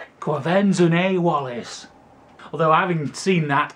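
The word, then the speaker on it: Quvenzhané: Quenzefane Wallace.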